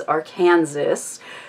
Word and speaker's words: Arkansas: no it wasn't that way that Arkansas is Arkansas and it's just that's how it is pronounced and I absolutely refused to believe my